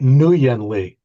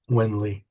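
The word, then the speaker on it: Nguyên Lê: Because I always called it New Yan Lee, but it's pronounced Wen, like W I N When Wenly.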